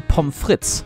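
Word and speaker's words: pommes frites: is referred to as pomfrit or just frit and germany has also loanworded this phrase and germanified the pronunciation to pomfritz there is a reason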